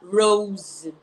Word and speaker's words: rose: Rise, o verbo rise, ele é irregular, ele vira rose, tá? Rose. Então, the numbers, the figures, rose, igual rosa, isso, igual rosa, e a mesma pronúncia, rise, rose, go up.